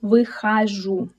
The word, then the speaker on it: выхожу: Also, here we see a reduced о, which turns into а. This is a rule, because all unstressed о in words are pronounced as а. That's why we say выхожу.